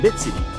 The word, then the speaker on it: Bitseedy: my good friend bit city is that how you pronounced your last name now bit City yep okay awesome I want